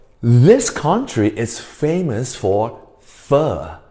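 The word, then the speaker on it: phở: 大家，这个是什么食物？Fur. 对大家，这个是读 fur，不是念 fur 哦。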